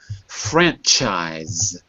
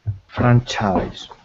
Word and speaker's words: franchise: Franchise. Franchise. Right? So it's an I at the end and the S is a Z.